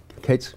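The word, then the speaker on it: Cadiz: guest here today and it's Becky Oliver from Katie's Kentucky right that's correct Cates that's how you pronounce it not over by the lake and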